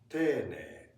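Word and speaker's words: 丁寧: Tene. That means polite, being polite. Okay. Even though it's written as te-i-ne-i. But it doesn't. We pronounce it like tene.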